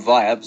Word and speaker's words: Vybz: as you guys know his name Vibes is not spelled normally it's spelled v-y-b-z and now if you